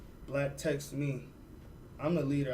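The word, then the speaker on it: 6LACK: But just in case people don't know who Black is, who's Black?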